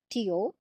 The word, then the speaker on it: Teotihuacan: The spelling is different, the pronunciation is little bit different. It's pronounced as Teotihuacan.